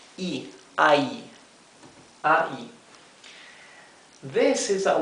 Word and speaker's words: y: So this Y is pronounced I, ai, ai. This is a word by itself, means the end, right? A and D, the conjunctive word end. This is pronounced I, simply I.